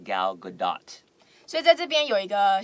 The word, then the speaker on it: Gal Gadot: name of gal gadot a lot of people say gal gadot without the T but it's actually pronounced gal gadot so that's a big